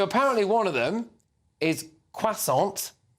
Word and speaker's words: croissant: No, I say croissant. I wouldn't say it like that. I'd say it like a pot, do I? Yeah. Don't pronounce the T.